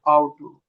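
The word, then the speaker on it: Auto: ऑटो कैसे pronounce होगा? आउटो, आउटो। Car, mouse.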